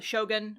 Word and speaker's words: shogun: The shogun, I pronounced it weird. The shogun. Shogun! It's like a shotgun, but it's Shogun.